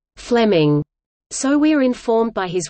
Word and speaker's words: Fleeming: Fleming, pronounced as Fleming, so we're informed by his one-time student Robert Louis Stevenson, who wrote an affectionate memoir of him.